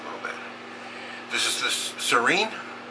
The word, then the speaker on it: Sereine: bit this is the Serene s e r e i n e that's how it's pronounced in French Serene it means a light